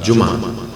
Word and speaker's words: جمعہ: ہم جمعہ کہتے ہیں، جمعہ یعنی جیم پر پیش بولتے ہیں، میم پر زبر بولتے ہیں، اور پھر اس کے بعد ہا کی آواز نکالتے ہیں، جمعہ۔ تو اس کا تلفظ کیا ہے؟